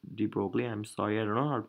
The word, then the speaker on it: de Broglie: so the answer was given by someone called de Broglie d broil de Broglie I'm sorry I Ronald pronounce his name so he's the guy who